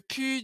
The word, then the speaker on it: plus: Mais encore mieux, on va carrément pas prononcer le L.